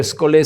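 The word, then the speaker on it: scholé: Sholé se escribiría, pero escolé se pronuncia, palabra griega que significa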